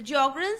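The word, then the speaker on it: Sjögren: in the disease of jogen syndrome the jogan syndrome the spelling the S is silent and how this jogan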